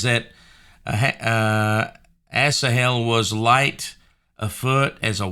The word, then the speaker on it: Asahel: have that titled uh Abner kills um uh assahel and um Sparks a Slaughter and that is how you pronounce his name so uh one thing that